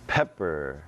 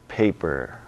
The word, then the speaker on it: pepper: It's pepper, not paper.